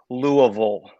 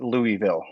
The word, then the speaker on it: Louisville: So, and by the way, that's how it's pronounced. It's Louisville. So if you live here, that's how you say it. But if you don't live here, you call it Louisville or Louisville.